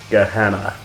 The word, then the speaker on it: Gehenna: another band from norway gehenna now their name is just like it's pronounced in the bible and gehenna is a